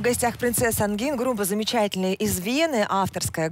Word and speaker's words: Princesse Angine: Но, в общем, да, тогда не нужно все-таки вообще, нужно отказаться именно от русского вот этого произношения «Принцесса Ангина», «Принцесса Ангин». Вот так надо.